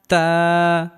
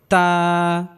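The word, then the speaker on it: تاء: বা বা তা তা তা তা তা তা তা উচ্চারণের ক্ষেত্রে হালকা বাতাস বের হবে তা তা তা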